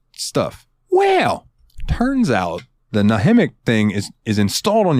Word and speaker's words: Nahimic: have the windows and I think it's pronounced nahimic it's n a m i c nahimic it's a sound driver